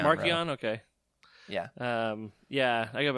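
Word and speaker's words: Marchion: I give it the hard C, but whatever. Markion. Marcion.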